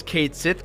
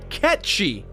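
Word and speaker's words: Cait Sith: it gets really annoying dude the game calls Kate sit Kate's it but the correct pronunciation is in fact catchy this is becoming a pretty big mess Reeve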